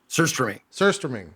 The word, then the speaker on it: surströmming: Surströmming.